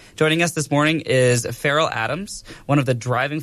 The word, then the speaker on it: Farrell: I think Farrell is also like an American name, right? I always think of Will Ferrell, like the actor, when I Ferrell, see but that's obviously pronounced differently. So, well, look, I mean, Farrell is actually an Irish name. It's actually an O'Farrell. So, yeah, you learn something new every day.